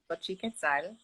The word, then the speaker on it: Xochiquetzal: So it's pronounced Xochiquetzal, which is the Aztec goddess for the love and the flowering earth.